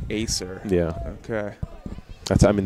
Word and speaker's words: Acer: say the brand that is on that computer Acer Acer yeah okay that's I mean that's how I've